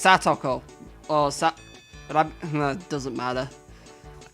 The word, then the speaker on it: Satoko: Not bad, Sadako. It's gonna... Look, I'm not gonna lie. It's gonna really trip me up calling her Sadako from now on. I guess that's because it's pronounced Satoko.